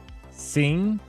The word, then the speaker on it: SYN: so I don't know how to pronounce s YN because it it stands for sink right but there's no C so it's sin I think it's just sin right sing it's more like Sing Sing bleed I'm really